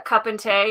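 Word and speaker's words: cupán tae: you turning in uh cup and tay is how you say a cup of tea in irish but this mug is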